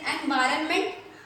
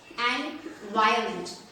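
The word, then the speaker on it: environment: ये क्या लिखा हुआ है, आप इसको क्या पढ़ते हैं, एनवायरनमेंट, एनवायरनमेंट। ये गलत प्रोनाउंसिएशन है गाइस, इसको पढ़ना है आपको एनवायरनमेंट, एनवायरनमेंट। क्या पढ़ना है इसको, एनवायरनमेंट।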